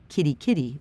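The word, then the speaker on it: Kerikeri: trail as I could a place called Kerry Kerry pronounced kitty-kitty by locals but it's still 200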